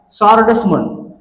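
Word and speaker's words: swordsman: आहे लक्षात घ्या आन्सर त्याच्यानंतर सेकंड एक्झाम्पल आहे सर्डसमन सोर्डसमन या शब्दाचे वाचन करत असताना या ठिकाणीस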